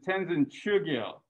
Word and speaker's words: Tenzin Chugyel: So anyways, it makes the O sound a little bit different. So rather than Cho, it becomes Chu.